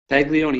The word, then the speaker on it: Paglione: night news show are going to be pagone did I pronounce that correctly Peg Leone yes you got it right thank you okay